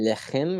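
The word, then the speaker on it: לחם: Is it lechem or leches? Lechem. Okay. Lechem. Let's put the It looks accent right syllable.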